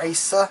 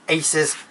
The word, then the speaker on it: Aces: And then obviously you got Mario Tennis Aces, is it? Or Acer? I can't remember how you say it now. Let me see, let me find it. Oh yeah, Aces. That's it, Mario Tennis Aces, which looks cool.